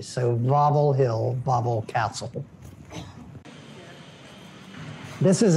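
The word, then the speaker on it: Wawel: czech dialect german dialect w's are pronounced as a v so novel hill bubble castle this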